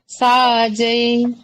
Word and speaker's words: साजै: காந்தே மூஞ்ச ஜனே உ சாஜை இந்த சாஜை அப்படிங்கிறது கரெக்டா சொல்ல மாட்டாங்க சாஜே ராஜை ராஜே அப்படிங்கிற மாதிரி உச்சரிப்பாங்க இப்ப அது படிக்கிறதா இருந்தா